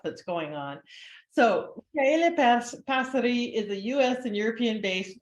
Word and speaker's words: Passeri: Did I say it right? Micaela Passeri. Passeri? How do you say it? Yes. Passeri.